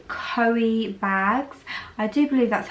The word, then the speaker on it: Coeebags: of LV slides before, from a brand called Coeebags. I do believe that's how you pronounce the name.